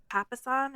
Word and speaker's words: Papasan: Okay, we are talking about The One Thing by Gary Keller and Jay Papasan. Is that how we pronounce it?